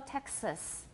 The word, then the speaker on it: Texas: Okay, 德州, Texas. What vowel do I have in the second syllable of Texas? It's a schwa, definitely a schwa.